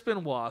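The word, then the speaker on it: Benoit: Um, Chris Benwa. So, I know that's how you pronounce his last name, even though it's spelled B E N O T, right?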